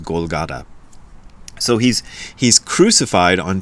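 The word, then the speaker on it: Golgotha: they named it but it's golgatha how we'd pronounce it I think it's the proper way we'd pronounce it but the Japanese can't really do the th sound so it becomes golata so he's he's crucified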